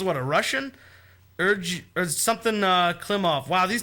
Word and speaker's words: Klimov: But the last name is Klimov. Oh, man. It's Klimov. I can do the Russian accent a little bit. Klimov finished with a 1.247. No, you gotta say it like angry. Klimov. Yeah, Klimov. My boy, Klimo.